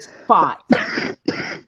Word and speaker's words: Spat: We pronounced it Spot. Spot? Yes, I know how it is spelled. And you said it exactly the way it looks. But we called her Spot. More like a spot.